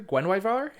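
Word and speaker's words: Guenhwyvar: Is that how we're pronouncing it, Jeffrey? Gwenwyvar? That is how we're supposed to pronounce it.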